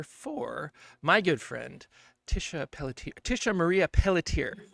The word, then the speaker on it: Pelletier: Did I say that right? I've never never quite asked you if that's how you say it or not. Did I get it right? Yeah, you did. Tisha Marie Pelletier. But Pelletier.